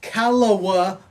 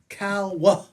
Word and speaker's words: Calwa: guys, it's not Calwa like I've heard growing up. It's Calwa. Two Calwa. syllables. Calwa. Everybody that's not from there says Calwa.